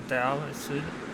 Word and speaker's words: Dhow: in here is the Dow required right uh take crocodile hide uh so so Dow is basically one of your level one boat so this is the da or do if you pronounce it so in order to